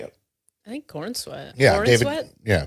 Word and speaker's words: Corenswet: I think Corenswet. Yeah, Corenswet? David. Yeah, Cornsweat, however you say it.